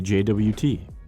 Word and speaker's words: JWT: That token is typically a JWT, or JSON Web Token, pronounced JWT, which is a signed object that bundles audience, expiration, and granted scopes.